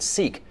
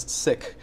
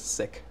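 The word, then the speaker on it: Sikh: the correct pronunciation is sick but uh because that sounds a little bit like sick like sick people have sort of changed that into seek but the correct pronunciation is sick now the trouble is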